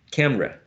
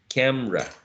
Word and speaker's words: camera: word is isolated and you hear the speakers the speaker saying camera camera maybe it may create some confusion so remember that this word may sound uh as two syllables not only three syllables um the last set